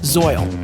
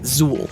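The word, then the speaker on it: Zeuhl: In Kobayan, it means celestial and is pronounced zoy, spelled z u h l. Before researching this piece, I'd been pronouncing it Zuul.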